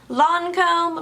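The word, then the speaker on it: Lancôme: Next product that I used was from Lancome. Lancome? Hey, Sissy. It's Lancome, right? Lancome. I always pronounce it Lancome, and the Ulta people corrected me. They're like, it's Lancome.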